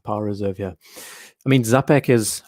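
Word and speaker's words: Czapek: reserve here i mean zapec is i hope i'm saying that right it is pronounced is it chapek to be thank you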